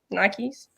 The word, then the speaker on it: Nike: was just thinking wait do you pronounce them nights nike yeah yeah yeah yeah it's nike okay like like rocky